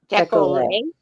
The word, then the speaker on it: décolleté: The T is silent. Decollete. Decollete.